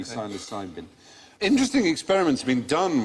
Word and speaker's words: psilocybin: But the magic mushrooms, psilocybin. So with a silent P, psilocybin.